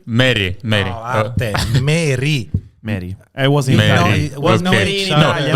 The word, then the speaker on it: Merih: Yeah, it's Russian pronunciation. Good evening, Merih. Merih. Merih. I was in Merih.